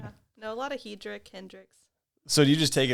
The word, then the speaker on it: Hedrick: No, a lot of Hedrick, Hendrix. So do you just take it in stride when someone says Hedricks or whatever?